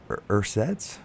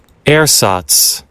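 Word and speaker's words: ersatz: The National Bureau of Standards has taken a special interest in these URSATs broadcasts for years.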